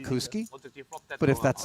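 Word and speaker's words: Badziakouski: at any given moment foreign have we been pronouncing it incorrectly the whole time he told me it was bad zakowski but he also told me I don't really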